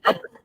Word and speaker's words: cupboard: I mean, I'm going to look in the cupboard, we call it cupboard, even though there's still a P in there.